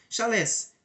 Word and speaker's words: chalé: arru traçado das ruas chalés pronúncia francês é Chalé casas rústicas marca da